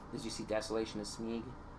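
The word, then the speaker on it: Smaug: Did you see Desolation of Smeagol? Is it Smeag or Smog? Is it Smog? It's Smog. I don't know how to pronounce his name.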